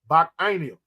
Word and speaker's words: Bacchanal: Hey, you're on point, Ike, and that's the proper way to pronounce it, Ike. Bacchanal.